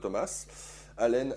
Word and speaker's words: Thomas Allen: Thomas Alen Thomas Thomas Thomas Alen A2 L N puisque je je le prononce avec l'accent anglosaxon puisque à l'origine c'est